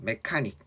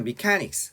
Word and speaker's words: mechanics: 메카닉. 근데 그 영어 발음이 메카닉으로 들리진 않습니다.